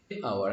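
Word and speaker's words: hour: যেমন হি worked for আওয়ার, খেয়াল করো আওয়ার, এই যে এইচ সাউন্ডটা, হা সাউন্ডটা, এই সাউন্ডটা কিন্তু এখানে উচ্চারিত হচ্ছে না। এখানে তারপরে এই এইচ এর পরে কিন্তু একটা ও রয়েছে, একটা ভাওয়েল রয়েছে, একটা ভাওয়েল সাউন্ড রয়েছে। তো এখানে এইচ উচ্চারিত হচ্ছে না, এইচটা সাইলেন্ট এবং তারপরে রয়েছে একটা ভাওয়েল সাউন্ড।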